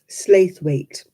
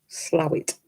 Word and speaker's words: Slaithwaite: And they say things like, you know, you are going to Slaithwaite. No, Slowit.